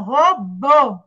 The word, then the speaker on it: robô: aqui, que seria bó, ele vai virar bô, bô. Aí o ó, em vez de ser ó, vai ser um ó mais fechado, bô. Então, robô, tá?